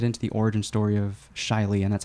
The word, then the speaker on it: Chilee: want to get into the origin story of Shiley and that's how you pronounce it yes uh kudos to Chicago and